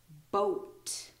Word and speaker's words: boat: there I know but there is an a after the O it's just not pronounced it's silent um we'll go on